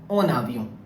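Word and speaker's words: en avion: Similarly, the last word, which is en, and the pronunciation is on, and if I write the word avion, which means plane, so the pronunciation is on avion.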